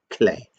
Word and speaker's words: Klee: Go deeper, go Klee. Or as some people would say, Clay. I think that's actually how he would have pronounced his name, Paul Klee.